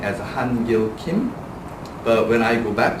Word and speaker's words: Kim: Proper way to say is Kim. So don't use the forte sound, don't use too hard, like hard G.